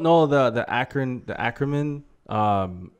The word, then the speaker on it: Ackerman: their heritage in fact you were saying acronym acronym but you're saying ackerman like that last name yeah yes okay i'm